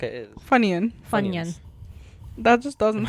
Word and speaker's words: Funyuns: Like a Funyun. What's a Funyun? It's a snack, I'm pretty sure. Is it? Yeah. Is that an American snack? I feel like it is. Funyun?